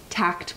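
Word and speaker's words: TAACCCT: of labor u.s department of labor's uh uh tact program is how we pronounce it possibly one of the most ridiculous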